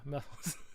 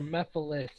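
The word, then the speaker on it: Mephiles: Yeah, Methyls. You knew I was going to say Methyls or Mephilis. It's really up to whoever wants to say it.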